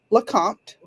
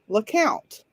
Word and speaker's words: Lecompte: think would be pronounced Lecompte. In fact, it is not pronounced Lecompte in the town. It is pronounced LeCount.